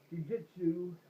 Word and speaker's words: jiu-jitsu: Jiu-jitsu.